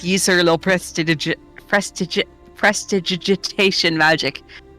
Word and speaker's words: prestidigitation: If you want to, like the best, if you really need help saying it, you could think of presto digitation, even though it's not pronounced. Oh yeah, that's better. Prestidigitation.